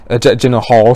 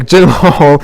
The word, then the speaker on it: Gyllenhaal: cowboy um alongside jake jim horn general hall sorry i said i pronounced his name terribly wrong there jake gyllenhaal in uh brought back